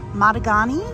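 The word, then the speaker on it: Matugani: on the coaster so this is matagani I believe it's pronounced and it's a launch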